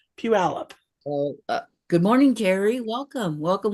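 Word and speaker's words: Puyallup: the state fair and peup that's how it's pronounced Pew alup PE alup good morning Terry welcome welcome welcome glad to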